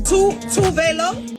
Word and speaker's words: Tove Lo: She's Swedish, and the Swedish way to pronounce her name is Tove Lo, but she said that Tove Lo is her stage name and it's the westernized way to say her name. I kind of adopted the international way, which was Tove Lo.